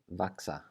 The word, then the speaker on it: vaxa: And that basically means that it's going to be pronounced like a K with an S right after it. So in that first word, vaxa, vaxa.